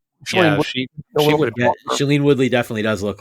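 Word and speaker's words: Shailene: and I' I've sorry if I pronounced this name wrong, Shayene Woodley. Shelene Yeah, Shelene Woodley.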